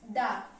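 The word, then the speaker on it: the: Vowel दा में भी एक इन दा, हम इसे दा बोलते हैं, इनको दी बोलते हैं।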